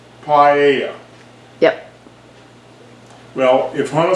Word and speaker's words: paella: know how it smells it sounds like paia pie a paella yep well if one